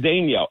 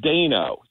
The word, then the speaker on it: Daniel: I always said Daniel, and he says it as Dano. So, okay, close. I always said Daynault. Yeah, I couldn't break myself from it as we were talking. He'd say Dano, I'd say Daniel, but hey, it is what it is.